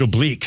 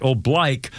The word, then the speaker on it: oblique: OB B L I Q U E which is which is pronounced oblique in many other place but in the Marine Corps when you're marching it's right oblique and that is a turn to like a